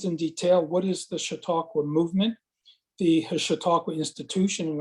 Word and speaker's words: Chautauqua: in trying to pronounce Chautauqua. And if everyone is paying attention at the first few seconds of the video, there'll be a little primer on the subject, but it's like, shh, talk, what?